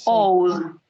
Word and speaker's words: Oud: LC, Mies, Gropius y Oud. Oud se escribe O-U-D.